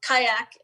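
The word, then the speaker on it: CAYAC: about kayak yeah so kayak is spelled c-a-y-a-c and that stands for child adolescent and young adult connections it is a sub-group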